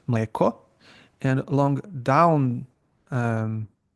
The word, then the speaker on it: mleko: Then you have Then you have long climbing accent, which is mleko, and long down um, accent, which is majka.